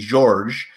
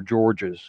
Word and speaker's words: Georges: Yeah, it is George, but ever since I was a little boy, people always pronounce the S even though it's silent. And they made the G hard, so it came out George or Georges.